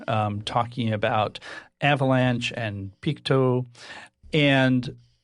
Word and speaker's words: Peakto: Picto, you can say Pik 2.